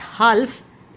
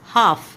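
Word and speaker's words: half: हो तो एल की इट्स नॉट हाल्फ इट्स हाफ यहां पर भी आप देखेंगे तो एल की आपकी साउंड नहीं आती साइलेंट है इसके अंदर भी हाफ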